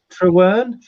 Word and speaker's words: Trewern: Now, is it Ray Trewern? That's right, yeah. It's pronounced as like True and Ern.